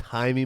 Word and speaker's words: Jaime: It's Jaime Munguia. This is Jamie, no? No, it's Jaime. Jaime. J okay, is silent.